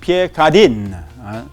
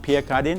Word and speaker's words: Pierre Cardin: Okay, and certainly we have this brand called a lot of people say Pierre Cardin. No, it's not Pierre Cardin, it's Pierre Cardin.